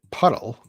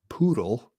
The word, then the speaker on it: puddle: they're not entirely formed by rain I said puddle p u d d l e not poodle the dog poodle puddle that's practice that pronunciation